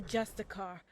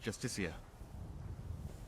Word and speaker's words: Justiciar: He's a Justicar, a Thalmor. It's pronounced Justiciar.